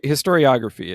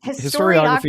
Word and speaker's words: historiography: this as games as histography is that histor historiography it just histography is just just a fancy word that means